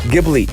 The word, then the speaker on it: Ghibli: from a studio deep how do you say this one gibby ghibli ghibli yeah i know i i